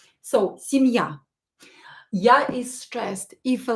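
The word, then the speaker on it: семья: this is the stress the stress is on ya uh don't forget to practice with me out loud and try to imitate to copy my pronunciation so sim ya ya is stressed if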